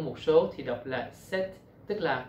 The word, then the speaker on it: sept: Tính từ chỉ số 7, set, khi đứng ở hàng đơn vị của một số thì đọc là set, tức là không phát âm âm p và phát âm âm t.